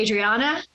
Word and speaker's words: Adriana: I I say that half the world says it you know with an accent so you know I would say I say Adriana okay then I'll say